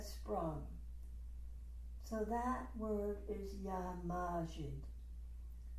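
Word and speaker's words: Ya Majid: So that word is Yamajid. The accent is on the A, Majid. If you like to think of the word majesty, that's helpful.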